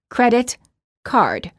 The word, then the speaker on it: credit card: two nouns, such as credit, card, which is pronounced as credit card. In compound nouns, the first word is stressed, and the two words are said together with no pausing in between the words.